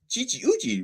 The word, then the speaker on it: Chi-Chi Uchi: Chi-Chi Uchi, rhyme with coochie.